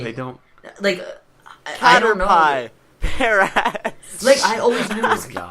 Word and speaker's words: Caterpie: Caterpie.